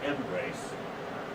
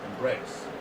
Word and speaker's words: embrace: Where's the, on that embrace, where's the stress naturally? First or second syllable? Second. Yeah, embrace, not embrace. Embrace, okay?